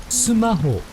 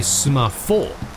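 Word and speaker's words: スマホ: talking about specifically smartphones, which are pronounced sumaho. Now you'd think it would be sumafo, but the Japanese have a very difficult time pronouncing like F sounds. So they usually just get lumped in with H sounds.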